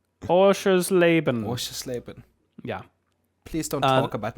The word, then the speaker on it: Oschersleben: Ja, the Motorsport Arena Oberschlafsbrennen. Which I'm sure is how you pronounce that. Are you okay? Do you need to call a doctor? Oschersleben.